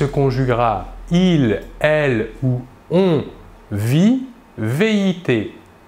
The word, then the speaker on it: vit: il, elle ou on vit, VIT. Nous remarquons que la prononciation du verbe est la même, vit. Nous ne prononçons ni la S finale ni la T finale.